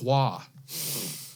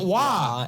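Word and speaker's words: Roy: That and being a hockey guy, I can't stand Patrick Waugh. His last name is spelled R-O-Y. Why is it Waugh?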